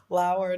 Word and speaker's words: Lauer: It being Lauer, not lower, still blows my mind.